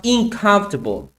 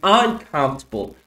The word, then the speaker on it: uncomfortable: And uncomfortable. You pronounce incomfortable. Okay. Let's listen to that part. It is a very uncomfortable thing to attend. So you got to get comfortable being in comfortable in your ever want to be successful. You you you heard that right? Incomfortable. So don't pronounce incomfortable is uncomfortable if you ever want to be successful.